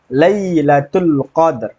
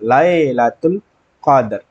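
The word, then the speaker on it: ليلة القدر: padahal ini bayi contoh di surah al-qadr Lailatul Qadr bukan lailatul qadar ya tapi Lailatul Qadr bukan Lai tidak ada huruf e kecuali nanti diimalah miring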